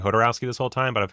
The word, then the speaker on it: Jodorowsky: I've been saying Jodorowsky this whole time, but I've heard a bunch of people say Jodorowsky, and I'm like, that also sounds right. Well, doesn't the J pronounce as an H in Spanish?